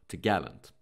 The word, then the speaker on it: topgallant: It is pronounced topgallant.